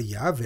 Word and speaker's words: Yahweh: bíblia em português mas o hebraico seria pronunciado como Yah e é formado com base na palavra para eu sou assim cada vez que ouvimos a palavra yav ou toda vez que